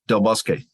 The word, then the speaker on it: Del Busque: director of engineering distribution Del busque uh is that the correct pronunciation of your name you got it right yes okay uh I'm gonna